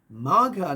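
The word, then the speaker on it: Magha: it means it's in the next chapter called maga which means to win a throne but maga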